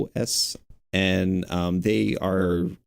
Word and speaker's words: Intuos: But Wacom also has I don't know how to pronounce it. I think it's Intuos. It's Intuos.